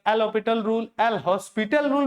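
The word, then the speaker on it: L'Hôpital: एल हॉस्पिटल rule नहीं बुलाया जाता है, एल हॉस्पिटल रूल बुलाया जाता है, एल हॉस्पिटल rule. L हॉस्पिटल कहेंगे तो एल अस्पताल रूल हो जाएगा, जो कि काफी गलत प्रोनाउंसिएशन होता है।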